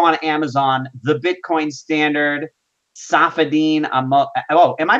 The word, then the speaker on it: Saifedean: can call me but the pronouncement the correct pronunciation of my full name is say 15 almost okay I'm gonna paste